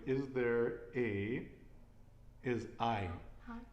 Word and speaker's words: hay: i h a y the h is silent and it's going to be i and this is a